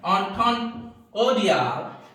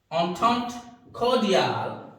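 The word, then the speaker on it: entente cordiale: देखिए ये जो वर्ड है ये भी फ्रेंच वर्ड है, और इसका प्रोनाउंसिएशन है एंटेंट कॉर्डियल। एंटेंट कॉर्डियल।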